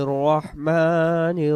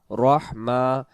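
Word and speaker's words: الرَّحِيم: উচ্চারণটা করব বিসমিল্লাহির রহমানির রহিম, রাহিম হবে না।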